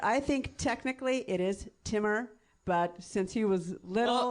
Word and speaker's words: Timur: I think is it like it's Jamal but it's Timur? Is it like that? Is it like the emphasis has to be on the second syllable for it to be right?